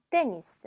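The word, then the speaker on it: tennis: 테니스 봅니다 테니스 테니스 얘는 마지막 매수 로 끝나긴 했는데 얘는 끝까지 발음 해주셔야 됩니다 발음 나누 냈어요 때 니가 아니라 떼 니스 라고 하셔야 되죠 자 그 다음에 우리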